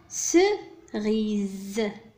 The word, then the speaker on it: cerise: ثم cerise. cerise. le S هنا نطق Z. لماذا؟ لأنه entre deux voyelles.